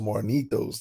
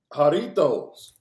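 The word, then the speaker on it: Jarritos: learn some spanish out here get you some marnitos that's solid now you said it's called marnitos juarnitos with a j i'm not saying it right you talking about the uh jaritos mm-hmm it's the same thing yeah yeah yeah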